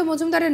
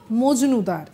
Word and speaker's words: মজুমদার: এদিনের সময় রাজ্য বিজেপি সভাপতি ও বালুরঘাটের বিজেপি প্রার্থী সুকান্ত মজুমদারের নাম বলতে গিয়ে এমন উচ্চারণ করে বসলেন যা শুনে একেবারে সবাই অবাক। সুকান্ত মজুমদার নাম বলতে গিয়ে বলে বসলেন সুকান্ত মজনুদার।